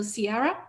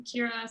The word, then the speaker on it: Kira: Okay, so our next speaker, so Sierra, please start. Hi, I'm Kira. Sorry, it's spelled weird, but yeah, I'm Kira from the Political Science Department.